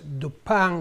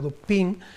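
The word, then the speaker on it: Dupin: Y entonces es el personaje que pronunciado en francés o en inglés es Dupan o Dupín, el detective de Edgar Lamp quién toma, retoma el caso y lo soluciona.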